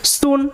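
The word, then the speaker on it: soon: সে পাশের গ্রামে যাচ্ছিল সুন শীঘ্রই he reached the bank of river আচ্ছা শীঘ্রই মানে শুন শীঘ্রই এখানে ডাবল ওর উচ্চারণটা ও এর মত ওকে এটা মাথায় রাখবে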